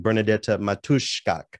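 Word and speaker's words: Bernadetta Matuszczak: now a polish composer by the name of bernadette matushkok and i looked up that uh pronunciation and practiced it a lot this morning bernadette matushka she was quoted as saying in poland garagina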